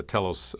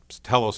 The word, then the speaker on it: telos: Telos is spelled T-E-L-O-S. It has the same beginning as in telephone and television and so on.